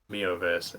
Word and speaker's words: miHoYo: Hate is silent. Mihoverse, excellent.